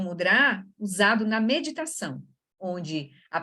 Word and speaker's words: mudra: Então, a gente fala mudra, mas, na verdade, em sânscrito seria mudra. A sílaba mais forte é onde tem o acentozinho.